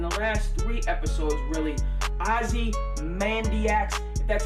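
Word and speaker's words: Ozymandias: episode but in the last three episodes really Ozzy Mandy acts that's how you pronounce it when they have the shootout in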